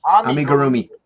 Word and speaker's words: amigurumi: Amigurumi.